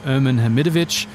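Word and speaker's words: Ermin Hamidović: rouge so so there's two ways that you can pronounce my name sam there's the english way which is irman hamidovich and then there's the balkan way which is you choose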